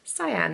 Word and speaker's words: Sian: oh no, sorry, it's actually pronounced Cyan or whatever, because I don't want to make anybody feel uncomfortable. That's like people pleasing to the max, isn't it? That I can't just say, oh, it's pronounced Cyan. But I just sit there awkwardly and let somebody call me Shan.